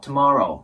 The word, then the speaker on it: tomorrow: イメージですねで最後の TOMORROW もそうなんですけどこの to の部分ですねこれが to ていう感じで強くならないように注意してみてくださいこれもシワの